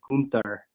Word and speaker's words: Gunther: Gunther, and the trademark You gotta say it right. It's as Gunther.